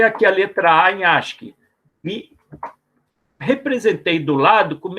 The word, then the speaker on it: ASCII: interessante como detalhe né aqui é geralmente pronunciado como Ask Tá certo então é